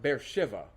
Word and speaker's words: Beersheba: it will be called Beersheba. Unto this day, it still is. There is a large modern city built just outside of this picture. They call it Beer Shiva. They pronounce it with a V.